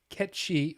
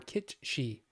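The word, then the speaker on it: Cait Sith: Kate Sith, the creature from Celtic folklore, is pronounced Ketshi or Kitshi.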